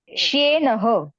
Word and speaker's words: श्येनः: य बहुत जन य का उच्चार करना भूल जाते हैं, होता नहीं है, तो य का उच्चारण करना है।